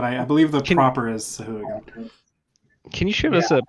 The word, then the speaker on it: Sahuagin: It's actually Not apparently Swahag. I don't know how to Sahuagin.